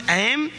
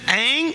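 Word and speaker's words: ऐं: The pronunciation is two types. One is Aam, Hrim, Kling. Other is Aang, Hrim, Kling. Both is okay.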